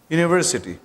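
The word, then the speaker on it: university: तो यू हमारे पास ऑलदो ये हमारे पास वोवेल लेटर है लेकिन क्या ये यहां पर हमें वोवेल साउंड दे रहा है नहीं तो इस वजह से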